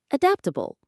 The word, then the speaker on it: adaptable: The word is adaptable. Let's check the pronunciation first. It has four syllables. Adaptable. Let's do that again. A dapp. The stress is on the second syllable.